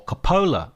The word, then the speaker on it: Coppola: to Paradise a Francis Ford cop story or Capa I should say actually I mispronounce his name all the way through this